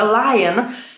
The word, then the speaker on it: Lion: Inny baton, Lion, tu też uwaga na wymowę, Lion, Anielion?